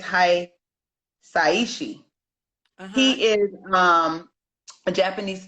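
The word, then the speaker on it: Hisaishi: It's not Hiasi. I think it's Hi Saiishi.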